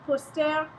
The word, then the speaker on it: posters: Boy a window de poster posters or some posters and you'll notice that there is an S there at the end of posters post there um you don't pronounce the final s um it's just there